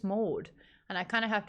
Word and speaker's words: Maude: Yeah, but Pailang, they would pronounce the R in that name. So they would say Maude. Maude. And I'm like, there's no R in my name. It's just Maude.